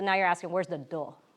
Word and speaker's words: 道: party okay so this this logogram pronounced do guess what all of them pronounce it the same way OK and Japanese and Korean in Chinese it's pronounced da da by itself is often